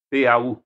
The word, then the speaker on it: Pau: P-A-U se escreve, se fala Pau, em francês.